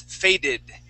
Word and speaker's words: faded: okay trusted all right if it ends with a D sound okay like the word fade that ends with the D sound fade we add a Ed at the end that is faded okay those are the only two times you can pronounce that ID sound every time else is